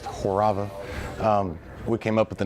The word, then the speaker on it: Horava: Well, the name is Horava, pronounced Horava.